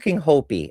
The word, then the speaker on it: Hopi: Is it Hopi or Hoppy? Hopi? I think it's Hopi.